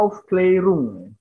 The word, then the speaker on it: Aufklärung: Bacanya Aufklärung. A-nya ada titik duanya, dibacanya E. Ya, bacanya Aufklärung atau pencerahan atau kalau dalam bahasa Inggrisnya Enlightenment.